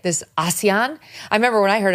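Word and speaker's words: ASEAN: she was talking about it is actually pronounced closer to Asian it's this group of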